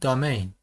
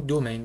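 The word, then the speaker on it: domain: به این قسمت میگیم دامین. رو تلفظ درست بگم دومین باشه، حتی انگلیسی میشه هاست و اینم میشه دومین.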